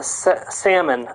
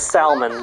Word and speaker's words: salmon: No, salmon. I pronounce it as salmon by mistake. Because I forget the L is silent.